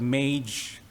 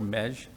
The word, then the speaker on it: Meige: as mesh syndrome so this is pronounced in different ways I've heard Mage mag mesh I kind of prefer mesh and this was named